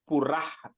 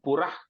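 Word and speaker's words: पुरः: Gayatri, that first third line, Purah, that ha, ih sound, Purah Klipte.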